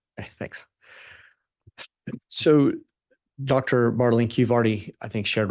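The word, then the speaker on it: Bartelink: And am I saying that correctly? It's Bartlink? You pronounced it perfectly. Yes, thanks. So, Dr. Bartlink, you've already, I think,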